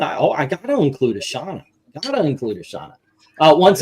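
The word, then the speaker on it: Shanna: sh I've always said shaa I know uh how did you how do you guys say it Shon I pronounce it as quiet Anna sh uh let's see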